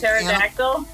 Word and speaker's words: pterodactyl: one the bird like pterodactyl yes you never know you can never know when they go to the bathroom you never know you know why you don't know yeah the p is silent that's phenomenal what i